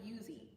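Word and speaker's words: Uzee: For years I was saying Uzi Brown because it's spelled U Z E. Um, but you pronounce it Yuzi.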